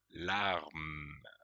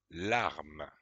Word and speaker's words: larme: Larme. Larme. C'est le M. Et enfin, à la fin, il y a une lettre qu'on entend peut-être un petit peu, mais peu. C'est plutôt une lettre muette.